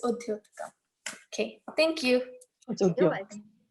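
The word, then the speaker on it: उद्योतकम्: Is it Udyotikam or Mudyotikam? Okay, it's Udyotikam.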